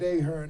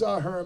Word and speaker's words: Ahern: And she said Ahern, and I called her right out. It's Ahern, by the way.